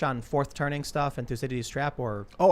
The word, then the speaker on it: Thucydides: Oh, I heard it's Thucydides is how you pronounce his name. Thucydides, isn't it? I think it's Thucydides in Greek. Interesting. That makes sense because they don't have the C.